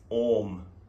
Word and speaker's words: Om: this entity called sound and that sound is ohm which so there are three syllables and how the chanting of uma